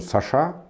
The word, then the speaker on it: Саша: этот называется странным названием саша с ударением на последнюю букву и все бы хорошо